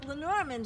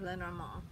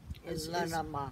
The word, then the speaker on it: Lenormand: So Lenormand, and actually I'm giving it an American pronunciation. You really should pronounce that with a French accent, like Lenormand. Lenormand.